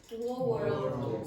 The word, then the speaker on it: world: World. So typically the standard pronunciation is world, one syllable.